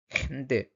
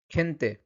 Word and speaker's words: gente: তখন ওর উচ্চারণটা কিন্তু খ, খ, খয়ের মতো উচ্চারণ হয়। ঠিক আছে? যেমন খেনতে, খেনতে, খেতানো, general, gimnasio, আঙ্কেল।